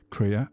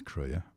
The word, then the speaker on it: Krea: I've got to stop calling it CR. I've been calling it CRE for ages, but now I'm more soable. I'm hearing people pronounce it correctly, which I think is crea.